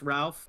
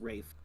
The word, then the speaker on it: Ralph: fined Ray fine ralphine it looks like it's pronounced Ralph but it's Rafe Ray fine Rafe fine